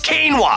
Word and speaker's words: quinoa: It's quinoa.